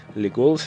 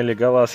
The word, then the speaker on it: Леголас: В фильме Леголас я знаю, но когда я читал книги в свое время, ударение было поставлено именно на Леголас. В том переводе, в котором я читал, поэтому я просто по привычке называю его Леголас. Так что, по сути, и то правильное.